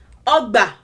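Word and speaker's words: ọgbà: You break it down into syllables. Learn the correct pronunciation, syllable by syllable. Pronounce it all at once. Ogba, ogba, ogba, o. Syllable 1, ba. Syllable 2. Those are the only two syllables. Now, o, o, o. Which of the three tones does it align with? O. Does it align with do?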